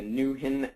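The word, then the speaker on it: NwHIN: Network I'll probably be using the the Newen uh pronunciation of the abbreviation or acronym um so I can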